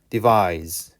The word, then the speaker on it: devise: 그러니까 발음이 얘는 z 발음이 되고요. 얘는 s 발음이 되는 거야. 발음이 달라. device, devise. 이렇게.